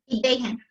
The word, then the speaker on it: Iden: Our watcher tonight will be Sarah Iden. And correct me on that pronunciation, Sarah. Is the last name Iden or Idahen? Idahen. I sounds like E, E sounds like A.